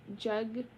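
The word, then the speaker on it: jegna: to pronounce this word ganos Jos j e g o uhuh j e g n o c h singular is j j j n jagna jagna j e g n a are providing the context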